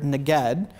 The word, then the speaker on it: neged: It's the Hebrew word neged. And how do we spell it? So the transliteration of the Hebrew word would be N-E-G-E-D.